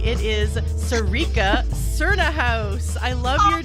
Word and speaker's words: Sarica Cernohous: It is Sarica Cernohous.